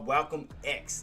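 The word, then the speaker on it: Walcolm X: That is Well, welcome X. It's almost like Malcolm X, but Welcome X.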